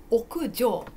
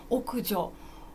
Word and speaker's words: 屋上: よ奥上奥上奥上じゃなくてこれはこの上はですね漢字一つの時上でも漢字使ってますね漢字の時は上じゃなくてジオウジョウそうでそうですだから読み方は屋上です屋上屋上意味何でしょう